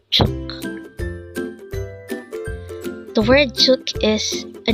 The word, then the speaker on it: 죽: one syllable word and it is pronounced as chuk again it's chuk the word chuk is